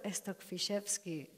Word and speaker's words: Stokfiszewski: Here we have Igor Stokfiszewski, and I am super proud to properly pronounce it.